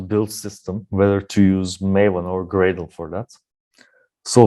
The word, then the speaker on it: Maven: well in addition uh maven rhymes with team halen so this is also